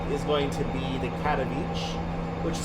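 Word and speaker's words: Katowice: going to be the cat on each which is spelled k-a-t-o-w-i-c-e the w sounds like the V when you pronounce polishing so cattle Beach to um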